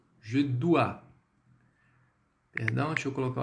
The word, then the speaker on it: dois: O OI é o quê? Som de UA.